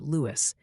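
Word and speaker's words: Lewes: The town of Louis, Delaware, is pronounced Lewis, and they seem passionate about this.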